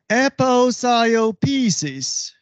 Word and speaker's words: aposiopesis: In Greek, it is aposiopesis, and in English, it is aposiopesis.